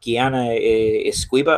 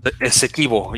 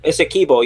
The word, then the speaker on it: Essequibo: Like I can't say it right. Guyana Esquiva or something like that. Or Essequibo, yeah. Essequibo, yeah.